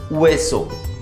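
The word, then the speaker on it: hueso: Bone को बोलते हैं अल वेसो, अगेन एच साइलेंट है, वेसो, अल वेसो।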